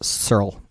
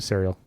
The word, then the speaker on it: C3RL: It's pronounced Searle. Serl. Cyril. So I'm going to quit calling it Serial.